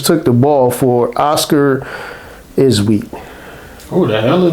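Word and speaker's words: Tshiebwe: the ball for Oscar isweat oh the hell it's their rookie you know it's he's another one with a te in the front of his name and is silent MH so it's their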